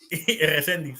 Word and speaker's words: Resediz: Am I even saying it right? Resediz, yeah.